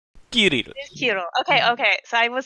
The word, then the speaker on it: Kirill: Kirill. Kirill. Kill. Which one is it? It's kill. Looked That at was it- really yeah. cute. Kirill. Yeah. I looked Kirill. up on YouTube. It's like Kirill. Kirill.